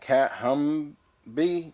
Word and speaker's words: Kathumby: name on this one you pronounce that cat hum be cat hum be black that's what this one